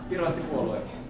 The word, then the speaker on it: Piraattipuolue: How do you say the Pirate Party Finland in Finnish? Piraattipuolue. Piraattipuolue. Yes.